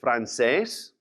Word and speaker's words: francés: So, also another common language is francés, French. Another accent on the E.